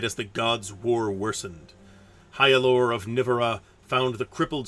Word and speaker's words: Hyalor: By the way, your hero's name is pronounced Hyalor.